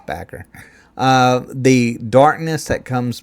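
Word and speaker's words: Bakker: Scott Backer. I guess that's how you say his name. I don't want to say Baker. I think it's Backer.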